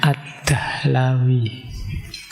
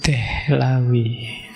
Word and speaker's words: Ad-Dihlawi: Baik, bismillah, malam hari ini kita ketemu beliau Syah Waliyullah Ad-Dihlawi. Ada yang membacanya Ad-Dahlawi. Kalau di barat lebih banyak disebut Dehlawi. Ayo, saya tidak tahu teman-teman suka mana, Dihlawi, Dahlawi, atau Dehlawi.